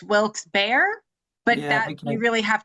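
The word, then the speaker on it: Wilkes-Barre: that it's Wilksberry, but if you are a local, it's Wilks Bear, but that you really have to have been there for generations.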